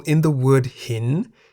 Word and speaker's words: หิน: The single syllable in the word hin is a live syllable because it has a sonorant final consonant no nu. Hin begins with a high-class consonant ho heb. Therefore, based on the tone rules for live syllables, hin is in the rising tone.